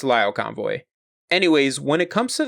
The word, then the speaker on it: Lio Convoy: In the last series, I pronounced his name Leo Convoy. It's Lio Convoy.